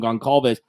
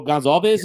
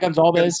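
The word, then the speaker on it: Gonçalves: Yeah, so I heard the C is like a different pronunciation, so it's not what we've been calling Goncalves. I've heard Gonzalez, so kind of very close to Gonzalez. So Gonzalez is what I'm going to go with until I'm told differently.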